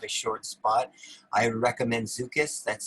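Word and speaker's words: Szukis: you only have a short spot i recommend zukus that's spelled s-z-u-k-i-s and you'll see that in a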